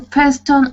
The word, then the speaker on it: fasten: To fasten on seatbelt. Okay. Yes. Now this word, the T is silent.